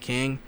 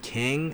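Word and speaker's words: Qeng: it um it says i believe it's called kang i could be pronouncing it it's q-e-n-g um in the comics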